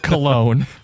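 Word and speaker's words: Colón: All the parts are working as they should and Colon's your center. You want that one to work well. Believe he pronounces it cologne.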